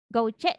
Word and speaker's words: gouache: cat akrilik, dan cat gouache gitu bacanya, betul? Betul, betul ya. Oh, gimana bacanya? Gouache. Oh, gitu.